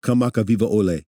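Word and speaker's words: Kamakawiwoʻole: Kamakaviva Ole. Yes. I mean, what say a that 10 times fast. Yeah, Israel Kamaka Viva Or just Ole. say it once fast. Kamaka Viva Ole.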